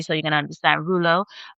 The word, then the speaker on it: rouleaux: So, another thing is rou- rouleau formation.